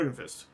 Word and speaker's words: Jorgenfist: of the stone giants, Jorgen's Fist, or Jorgenfist, as it's you gotta slur it. You gotta be like Jorgenfist. Is kind of how it's said in giant.